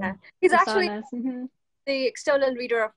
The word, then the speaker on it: Sousanis: so then, Kay, I'm sure you've read Nick Susanis, is that how you pronounce his name? Yeah. He's Susanis.